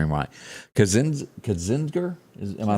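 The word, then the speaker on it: Kinzinger: about expelling adam and tell me if i'm pronouncing this right anyway cause kazinder is am i saying that right ken kenzinger yeah and also liz cheney from the house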